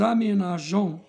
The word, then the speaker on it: aménageons: j'aménage تصبح nous aménageons. ولكن حذاري نضيف أو بعد جي حتى لا تنطق أميناجون.